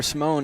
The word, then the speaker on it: Simone: Simone, excuse me, not Simon.